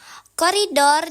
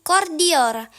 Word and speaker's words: koridor: Koridor diucapkan kordior. Cara membacanya, urutan bunyi I dan O dalam koridor tertukar, sehingga menjadi kordior.